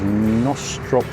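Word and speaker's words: Knostrop: This is Nostrop Lock. Assume the K is silent.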